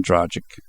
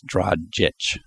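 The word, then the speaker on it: Dragić: excuse me Dr drait somebody told me to say it correctly and they're right I drag dragic is not right it's drit or or something along those lines it ends with a CH not a g so so those guys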